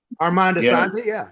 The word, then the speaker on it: Armando Asante: And it was a bit of, am I pronouncing his name right? Because I don't want anyone to. Armando Asante, you got it.